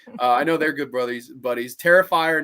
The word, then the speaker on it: Terrifier: Terrifier, not terror.